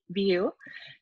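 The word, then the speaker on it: Vue: And I always tell people, remember, View is spelled V-U-E, View.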